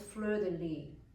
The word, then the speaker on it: fleur de lis: The important point is that French usually has an accent in the last syllable. So fleur is a long syllable, and de is schwa, which is short, and the li is also a long and accented syllable.